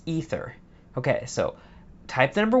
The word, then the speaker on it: Aether: Aether, Aether, Aether. Aether, Aether, Aether. Okay, 1 is Aether. A as in lay.